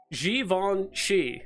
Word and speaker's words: Givenchy: I guess it's Givenchy. That's how you actually pronounce it, apparently.